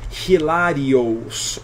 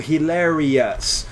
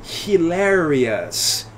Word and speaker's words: hilarious: os não eu digo hilarious então ou s em Inglês fica US né na pronúncia Toda vez que você vê isso aqui você vai pronunciar assim US então isso aqui é hilarious hilarious hilarious a Lourdes